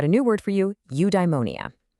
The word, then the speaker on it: eudaimonia: Okay, I've got a new word for you, eudaimonia. It's pronounced you-die-mo-ni-a.